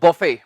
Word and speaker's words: BUFFET: इसके दो उच्चारण हैं, एक तो बफे, दूसरा बुफे। दोनों ही सही हैं, बफे और बुफे।